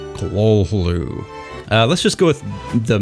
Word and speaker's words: Cthulhu: find anything authoritative, but apparently H.P. Lovecraft himself did give an interview where he explained how to pronounce it, and it was Cthulhu.